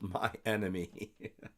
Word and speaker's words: My Inner Me: Mostly the short story I'm writing is titled My Inner Me. It's pronounced my enemy.